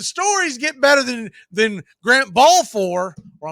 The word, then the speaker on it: Balfour: I don't know if the stories get better than Grant Balfour, or I'm sure he'd probably cuss at me and say it's Balfour, but the names take it up a notch.